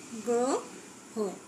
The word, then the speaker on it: গ্রহ: গ্রহ লিখতে পারি, উচ্চারণটাও লিখব গ্রহ। আবার দ্রব্য লিখতে পারি, উচ্চারণ লিখলাম দ্রব্য, ইত্যাদি। দেখো শব্দের প্রথমে অযুক্ত রফলা থাকলে সেক্ষেত্রেও আদ্য অয়ের উচ্চারণ সাধারণত ওকার হয়ে থাকে।